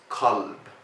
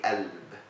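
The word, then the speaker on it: كلب: For example, heart, it means kalb. This is the MSA way. In Egypt, we say elb with the a sound. In Upper Egypt, they say gelb with the g.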